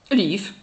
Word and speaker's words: livre: “Lîfe” There we are! Words ending by “ve” are pronounced “f” like “life”.